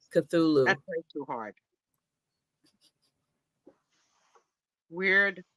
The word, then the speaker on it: Cthulhu: Cthulhu. All right, that's how you say it. Cthulhu.